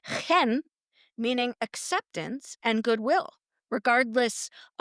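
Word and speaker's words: חן: I'm talking about grace, which in the Hebrew word, it's pronounced chen, meaning acceptance and goodwill, regardless of whether we've earned it.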